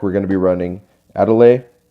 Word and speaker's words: Adel: going to be running a delay or Adele however you want to pronounce it a delay is how I pronounce it but she has haste